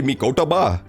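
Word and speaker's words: Mikotoba: that conversation with Professor mikotova that's how you pronounce mikatoba the whole time man I suck at pronouncing Japanese names you're supposed to say mikotaba that doesn't even make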